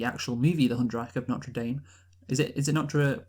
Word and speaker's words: Notre Dame: That is how it's pronounced in our country, so that's how we're going to pronounce it.